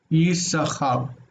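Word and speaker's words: יששכר: Naturally it would, but we're going to read it as if it's just the one. Yisachar.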